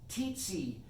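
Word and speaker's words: Tietze: It's called, spelt with the T, T-I-T-Z-Y, Tsetse syndrome in Hoppenfield.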